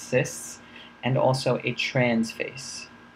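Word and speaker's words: cis: called the cyst face c i s pronounced cysts and also a transf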